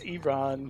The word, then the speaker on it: Iran: It's Iran because Yeah. only Americans use the I. Yes. as an I. Everybody Yeah. else uses it as an E, Right?